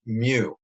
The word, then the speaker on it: mu: It kind of looks like a U, and it kind of looks like an M, and it's pronounced mu.